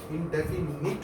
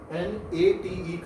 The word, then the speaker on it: indefinite: ये इंडेफिनिट होता है, नेट नहीं होता। कई लोग उसको बोलते भी गलत हैं और लिखते भी गलत हैं। वो लोग NATE कर देते हैं जबकि वो NITE है।